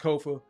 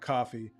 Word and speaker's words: Kofa: Once again, I have been your humble host, Kofa, Kofa, not coffee, not Kufu, not Kofi, or any variation thereof. Kofa rhymes with sofa.